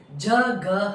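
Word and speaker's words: जगह: Previous வீடியோல நான் ஒரு வேர்ட் லாஸ்ட்ல உங்களுக்கு சொன்னேன், ஜ க ஹ. அது எப்படி ப்ரொனவுன்ஸ் பண்ணணும்னு. அது வந்து ஜக. கஷ்டமா இருந்தா ஜ சொல்லி க, ஜ க ஜ க அப்படின்னு ட்ரை பண்ணுங்க, கண்டிப்பா உங்களுக்கு வந்துடும்.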